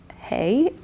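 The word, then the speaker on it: Hei: And then Hey.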